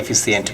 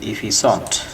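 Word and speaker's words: efficient: তারপর আমরা আরেকটি শব্দ দেখতে পাচ্ছি, এটি কিন্তু অনেকেই এফিসিয়েন্ট বলে থাকে, উচ্চারণটা হবে ইফিসন্ট, ইফিসন্ট, নট সেসিয়েন্ট, ইফিসন্ট, যার অর্থ হচ্ছে দক্ষ, নিপুণ, কর্মক্ষম।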